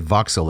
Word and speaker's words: Vauxhall: It's Vauxhall, I believe is the spelling, but they pronounce it Vauxhall as only the British would.